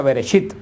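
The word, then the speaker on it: בראשית: Por eso el libro de Génesis en hebreo se pronuncia Bereshit, que es la primera palabra que sale de la revelación de Dios, que quiere decir en el principio.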